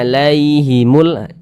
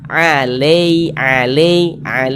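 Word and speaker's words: عليهم: Jangan dibaca condong ke jangan dibaca alai, jangan. Tapi dibaca alaihimul begitu. Kemudian dia lunak, jadi jangan ditekan-tekan, lunak saja. Alaihimul, seperti itu.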